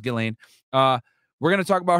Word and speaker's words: Ghislaine: here to talk about uh gelane maxwell or gizlane maxwell whatever you want to say i think it's pronounced gillane uh we're gonna talk